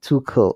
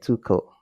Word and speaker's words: Tuchel: then it said that german is supposed to be too um too cool or something like that too cool it's it's it's the the ch is key but the way to